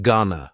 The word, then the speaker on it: gonna: Next, I just want to mention gonna from that text. It's another informal contraction, just like wanna. Gonna is generally pronounced with the schwa.